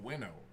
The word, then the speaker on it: Chase Winovich: signs his cards wno I know it's supposed to be pronounced winno but wo is just